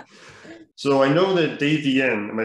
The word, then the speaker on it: Davienne: it works man so i know that dave vn am i saying that right dave vn yes i've been saying it non-stop like last